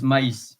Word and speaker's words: maïs: Another example is maïs, which is corn. And to not confund with me, because M-A-I-S is me, but M-A-I-S with the tremor on top of the I is pronounced differently, maïs.